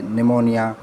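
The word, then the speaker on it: pneumonia: जब भी एन के बाद पी आएगा, जब पी के बाद एन आएगा, जब पी के बाद एन आएगा तो पी हमारा साइलेंट हो जाएगा, जैसे निमोनिया, न्यूमेटिक एट्सेट्रा।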